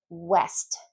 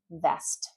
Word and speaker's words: west: So certain words like welcome can come out as welcome, or west can come out as vest. Or wine can be pronounced as vine, or wet to vet, or William to Villiam.